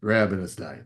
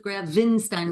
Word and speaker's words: Grabenstein: t i n so it's uh it's like Frankenstein except you're grabstein I haven't been a